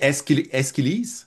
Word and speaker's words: Aeschylus: prononce Échille. Ben, Oui, en anglais, on dit Aeschylus.